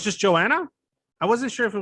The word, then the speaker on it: Joanna: here with um um i don't want to mispronounce it your name is joanna oh it's just joanna i wasn't sure if it was just joanna